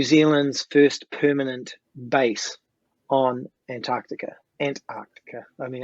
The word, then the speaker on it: Antarctica: first permanent base on Antarctica. I mean, I grew up saying Antarctica, but Americans say Antarctica, which is actually correct. So I'm trying to correct myself.